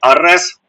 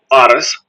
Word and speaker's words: Арес: Арес. Арес. Арес. Ну там наголосі так і так я зустрічав ставлять.